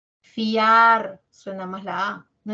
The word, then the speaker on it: fiar: también escucho dos ya pero es un diptongo Por qué es un diptongo porque de las dos vocales la abierta la a suena más fiar no es fier Sí entonces ojito ojito